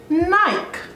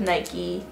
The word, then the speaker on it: Nike: bikey not mikey so why is knight pronounced nike um lamb american advertisements